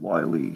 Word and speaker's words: Wylie: wonderful Brian Wylie yeah I keep assuming it's pronounced like wily coyote so I keep thinking wily so um see yes